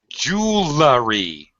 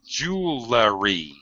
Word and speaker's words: jewelry: one uh Christian ah jewelry you should not say Jewelery how should you say